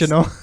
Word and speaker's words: Giacchino: I'm saying it the revisiting Italian way, the way it was meant to be pronounced. Giacchino.